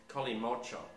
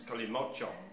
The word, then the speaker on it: Kalimotxo: That is Colimocho. If you look up the spelling of it, there's an X and an O in it, which is pronounced ch, so it's Colimocho in Spain.